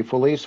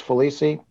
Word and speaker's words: Folise: It's done many ways. It can be Folise, Folisi, as long as it's not a swear word, it works.